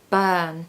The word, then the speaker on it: burn: a really long sound burn it's the same sound as in girl shirt world work we need this uh